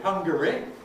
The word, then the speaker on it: Hungary: we don't do it, as in the name of the country Hungary. Why can't we say hungry for that? Well, homophonic clash, because we don't want it to sound the same as hungry wanting food, presumably.